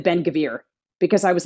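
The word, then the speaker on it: Ben-Gvir: was focused on uh Ben gevir which I pronounced in the article in this article Ben gevil with the Israeli uh way of saying it because it didn't I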